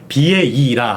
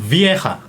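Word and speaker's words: Vieira: 그럼 비에리 우리나라에서는 비에이라 하는데 약간 현지에서는 흐 발음이 좀 들어가네요. 그렇죠. 그리고 비에이라가 아니라 파트릭 비에하입니다. 비에이하가 아니라 네. 비에하. 비에하. 파트릭 비에하.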